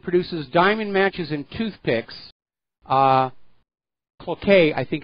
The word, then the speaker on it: Cloquet: Now, apparently the factory that produces diamond matches and toothpicks, Cloquet, I think it's pronounced, is going to close.